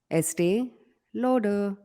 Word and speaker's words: Estee Lauder: Estee Lauder. How can you not pronounce this brand right? When I say it, Estee it Lauder. sounds like something else. What do you say, Este? please? Estee Lauder.